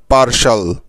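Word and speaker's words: partial: শাল ব্যাস হয়ে গেল পার্শাল সুতরাং এই শব্দটা থেকে আমরা মোট দুটি সিলেবল পেলাম ঠিক তো যেমন পি এ আর পার এবং টি আই এল শাল পারসাল পার্শাল মানে হলো আংশিক বোঝা গেল মনে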